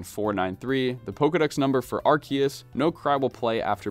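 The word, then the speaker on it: Arceus: the literal creator of CNO RCs sorry sorry archus I hate saying it that way but I guess it's the correct pronunciation anyway in order to see this glitch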